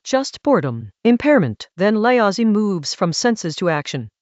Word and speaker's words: Laozi: What Laozi, pronounced Laozi, is pointing at is not 5 specific colors, but the entire spectrum of visual stimulation.